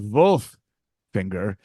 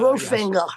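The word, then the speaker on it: Wolfinger: Well, it's pronounced Wolffinger, but yes. Wolffinger.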